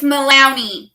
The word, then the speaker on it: Malowney: It's Malowney, but it's very similar to Maloney.